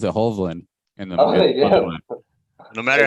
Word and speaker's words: Hovland: the Northern Lights, you'll know very quickly they pronounce it Hovland.